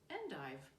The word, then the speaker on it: endive: London to buy endive I pronounced this in the proper American Way endive butchering the original French he called up they